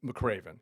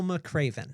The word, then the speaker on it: McRaven: so Admiral McRaven. Okay, Admiral McRaven.